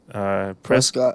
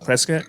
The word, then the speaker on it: Prescott: Yeah, You were saying how you say your Prescott. Prescott. Oh, Prescott. Oh, Yeah, what? It's Wait, Prescott, not Prescott. Wait, how's it pronounced?